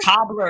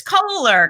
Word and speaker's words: Koehler: it's so any or cobbler it's Coler come on do a